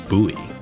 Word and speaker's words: buoy: I think I noticed the way Grimmoire pronounces it as boy, but I always pronounce it like buoy. So, if you if you pronounce it like buoy, then you wouldn't be able to make that joke.